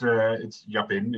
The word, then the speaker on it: Japin: How do I say your surname? Japin? Yeah, that's pronounced quite good. It's Japin in Dutch.